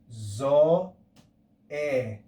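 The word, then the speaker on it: ζωή: look at this word the first letter is zetta makes the sound z then omega makes the sound o and eta makes the sound e we put this together we have the word zo e zoe if we add a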